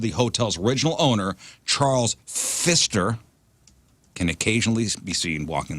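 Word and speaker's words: Pfister: a haunted I'm sorry Fister p f i s t r I'm assuming that p is silent Fister Fister the Fister hotel in Milwaukee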